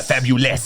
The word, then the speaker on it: Fabuless: rock stereotype of that we take words and we spell them wrong but it's pronounced yeah fabulous so uh yeah this